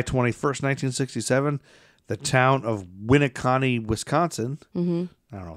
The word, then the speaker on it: Winneconne: That's pronounced Winneconne, Wisconsin. Oh, there you go. We're right. Boom, Winneconne.